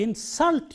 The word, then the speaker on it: insult: do not want to insult you stresses on the second syllable because it is used as a verb in this context so there is a